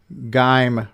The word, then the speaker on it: Geim: glad someone else agrees that uh geim rhymes with time so the guy's name